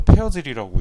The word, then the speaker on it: Persil: 독일에서 페어즐이라고 있습니다. S가 지읒 발음이 나요.